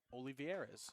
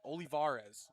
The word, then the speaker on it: Olivarez: In 2023, Nadal was traded one for one for big leader Edward Olivierz, I believe is how you say it. Olivar Olivarez is how you pronounce it.